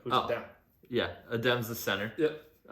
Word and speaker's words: Adem: Adem.